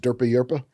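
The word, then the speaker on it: Dura-Europos: It's pronounced Durpa Yurpa.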